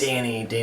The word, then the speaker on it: Danny: His name was Denny, like Denny's. Danny. I was wondering if he was just pronouncing Danny okay. wrong, but in the behind the scenes they showed a picture of the script and it said Danny, like the restaurant Denny's.